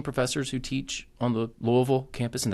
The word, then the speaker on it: Louisville: who teach on the Louisville campus and that's how you say it Louisville um not Louisville not Louisville Louisville um I went to